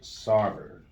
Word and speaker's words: Sarver: So, speaking of pushing it to the limit, Suns owner Robert Sarver.